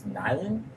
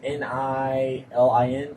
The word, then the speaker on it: Nilin: You wake up, or when your character comes to, I want to say her name's Nylan, It's Nilin.